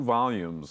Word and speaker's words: volume: I read only the first 2 volumes of the award-winning 4-volume martial arts novel. 这部得奖的武侠小说4册当中，我只读了前2册。好，那学英文的时候呢，耳朵其实很重要，你要仔细听 native speakers 怎么样发音。好像刚刚贝老师念那个字呢，他是念 volume 那很多人呢会把它念成 volume。好，那其实不对的，那个 L 不要跑到后面去。好，所以我们再请贝老师帮我们念一次这个字。